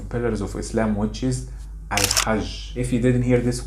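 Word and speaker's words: الحج: know it yet, that the letter Jim in Masri, they pronounce it Gim. So that means logically, Al-Hajj, Masri even they say it fast and they say it Al-Hajj. Al-Hajj.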